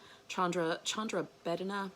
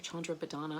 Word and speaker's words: Chandra Bhedana: It's called Chandra Bhedana or Chandra Bhedana. I've heard it pronounced both ways. You can take your pick.